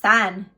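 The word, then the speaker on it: 三: The Chinese word for 3 is pronounced san, and it sounds similar to the word for birth, which symbolizes new life and creation, your manifestation.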